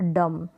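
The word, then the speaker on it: dumb: pronunciation में थंब और दम तो यहां पर इन सारे स्पेलिंग में एम के बाद भी है और बी साइलेंट है अगला रूल देखें अगर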